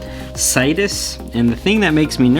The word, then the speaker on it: Cyetus: This is a Cyetus, I think that's how you pronounce that, Cyetus, and the thing that makes me nervous is right here, it says made for tasty hobby.